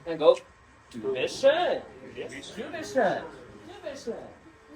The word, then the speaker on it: schön: If you don't know how to pronounce that, think of like an urn that you put ashes in. So schön.